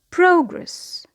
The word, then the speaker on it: progress: The next word is progress. Progress means development or growth. So here the stress is on the first syllable.